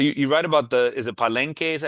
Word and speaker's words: Palenque: Uh, I wonder about so you write about is it Palenque, is that how you pronounce yep, right?